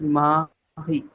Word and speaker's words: Marie: A as in French, and the alphabet R in French is almost equivalent to the alphabet H in English in terms of pronunciation. So it becomes Mahi. If I give you one phonetic, it is Mahi.